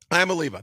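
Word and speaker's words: Iamaleava: Iamaliva. Think about Aleve, the aspirin or Bayer, whatever it's called.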